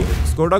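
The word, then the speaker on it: Škoda: स्कोडा का सही उच्चारण जहां स्कोडा है, वहीं पोर्शे का पोर्शा।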